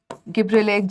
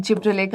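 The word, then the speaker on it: gibberellic: भी डाल देती हूं गिब्रेलिक जिब्रेलिक आप जिस तरह से इसको प्रोनाउंस करते हो गिब्रेलिक एसिड चलिए तो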